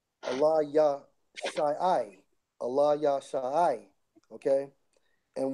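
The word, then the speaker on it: אֱלִישָׁע: Now, we go to Elisha in the blue letter, it's Strong's H 477, and it's pronounced as Allah, Allah Yah Shai, Allah Yah Shai.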